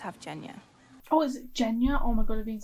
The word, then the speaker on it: Genya: Why would I say j? I would say g. Genya.